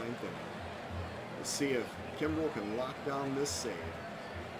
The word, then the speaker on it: Kimbrell: The Cub closer, Craig Kimbrell. That's a lot of hard C sounds right there.